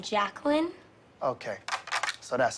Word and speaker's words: Jacqueline: Jay Quellen. Where's Jay Quellen at? No Jay Quellen here? Yeah. Do you mean Jacqueline?